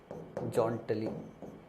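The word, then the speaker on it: jauntily: है जटली शब्द है जटली जटली ये इसका करेक्ट प्रोनंसिएशन है और स्पेलिंग में जटली बोलते हैं लेकिन याद करने के लिए जा मैं मतलब अपने समय में ऐसे ही पढ़ता था ताकि स्पेलिंग याद रहे प्रोनंसिएशन इसका जटली होता है यू साइलेंट रहता है जटली लिखते हैं ठीक है ना मतलब जटली पढ़ते हैं तो जा उन टिली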